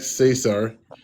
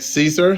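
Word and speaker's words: Casar: Greg Caesar. Cesar. Greg Cesar. Cesar. Sorry. He pronounc it. Yeah, he pronounces it Cesar.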